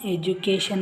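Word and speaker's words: education: ಡಿ ಅಕ್ಷರದ ಉಚ್ಚಾರ ಜಗುತ್ತದೆ ಆದರೆ ಎಕ್ಸೆಪ್ಷನ್ಸ್ ಇರುತ್ತೆ ಬಸವರಾಜ್ ಅವರೇ ನೀವು ಕೇಳಿದ್ರಿ ಎಜುಕೇಶನ್ ಬಗ್ಗೆ ನೋಡಿ ಇದರಲ್ಲಿ ಈ ಯಾವ ಅಕ್ಷರಗಳು ಇಲ್ಲ ಆದರೂ ಕೂಡ ಇದನ್ನ ಎಜುಕೇಶನ್ ಅಂತಾನೆ ಪ್ರೊನೌನ್ಸ್ ಮಾಡ್ತಾರೆ ಈಗ ಡಿ ಅಕ್ಷರದ ಜ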